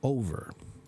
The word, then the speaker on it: over: them right so yeah how do you pronounce over to say something is over it's over o o over make your mouth bigger okay what do I